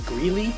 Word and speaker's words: Greeley: was calling him Grell. So, it's good because they introduced themselves pronouncing their name correctly. So that's how I learned his name was Greeley, not Grell.